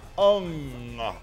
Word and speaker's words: Hung: The Hung is pronounced Ung. Not to be confused with William Hung.